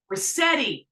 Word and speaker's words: Ruscitti: Ruscitti. I gotta do that pronunciation thing that your brother has.